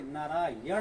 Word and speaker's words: नारायण: इस न का उच्चारण स्थान देखिए, नारायण होता है, ठीक है।